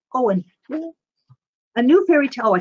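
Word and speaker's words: Eoin: That's how you pronounce his first name, Owen.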